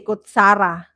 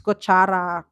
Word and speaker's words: kutsara: No, others would say kutsara, but it's kuchara, kutsara.